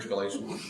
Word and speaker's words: Galatians: Galatians?